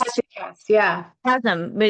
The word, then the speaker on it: Hesychast: Hesychast Hesychast, yeah.